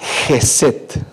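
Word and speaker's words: חסד: En el hebreo esta palabra se escribe jeset.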